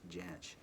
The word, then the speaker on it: Jansch: And it is pronounced Jansch.